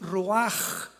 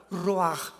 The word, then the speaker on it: ruaj: La palabra para espíritu en el hebreo es la palabra que es ruaj, que se escribe ruash con ch, pero repito, ese pronuncio pronuncia como J. Roaj, Roaj, el Kadosh, Dios Jesús, el espíritu.